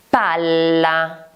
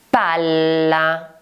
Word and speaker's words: palla: Palla. Palla. Si scrive con la doppia L ed è quella sfera che viene utilizzata spesso nei giochi.